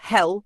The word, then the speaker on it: Hel: Hell, pronounced hell like the English word, is the Norse goddess of the underworld, not to be confused with the Christian hell.